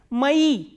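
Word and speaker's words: мои: And the next one we have the plural form of moi, which is mai. And you have to notice that this e is stressed, that is why o is pronounced as a.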